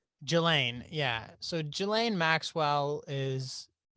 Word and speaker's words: Ghislaine: I think it's Jelaine. Ghislaine, yeah.